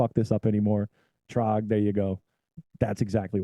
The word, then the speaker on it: Trog: it's not that hard just see long o sound in the middle the trog War Ro I got